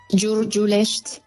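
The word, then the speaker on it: Giurgiulești: Hay un puerto que se llama Portul Giurgielesti, que no sé lo que significará, pero ¿cómo se pronuncia, Olga? Giurgiulesti. Giurgiulest, bueno, pone una I al final, pero Giurgiulesti, que debe ser algo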